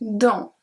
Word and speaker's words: dans: J'irai dans un autre magasin. J'irai, we pronounce everything. Dans. We don't pronounce the S.